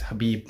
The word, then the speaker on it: Khabib: I think you don't say the K in it. It's Khabib Nurmagomedov.